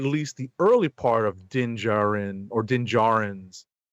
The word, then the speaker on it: Din Djarin: the early part of Din Djarin or Din Djarin's. I want to say Din Djarin just because it feels like it rhymes better. That's fair. But they pronounce it as Din Djarin.